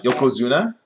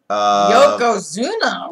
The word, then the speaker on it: Yokozuna: You have Yokozuna. Yokozuna, yeah.